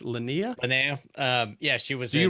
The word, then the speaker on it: Linnea: And then is her name pronounced Linnea? Linnea.